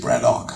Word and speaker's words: Braddock: The locals say Braddock.